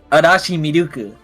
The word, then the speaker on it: Arashi Miruku: So the correct pronunciation would be Arashi Miruku.